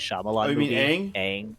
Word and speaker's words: Aang: technically pronouncing his name incorrectly because it was pronounced different in the movie, but the kid who plays Ong in the Avatar: The Last Airbender live action M Night Oh, Shyamalan you mean movie, Aang? Aang.